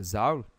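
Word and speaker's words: Zahl: Ele é representado pela letra Z porque Z é uma palavra alemã, que provavelmente a pronúncia é Zaul, que significa número.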